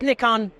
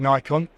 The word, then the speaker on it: Nikon: ask it every year it depends what part of the world you come from I mean the Americans will call it Nikon most people in Europe call it Nikon um but actually Japanese